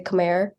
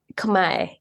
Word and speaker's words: Khmer: one is you know some people will say Khmer but every single time with my investor friends and stuff Kamai you need to say come on that's what